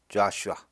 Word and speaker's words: Joshua: 덤에 있는이 사인들을 자 우리는 여호수아 그러죠 영어 발음은 자슈아 모세가 여호수아에게 말하기를 스